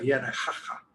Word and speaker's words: Yanacaca: También el deslizamiento de Yanacaca, aunque se pronuncia en quechua Yanajaja, ¿no?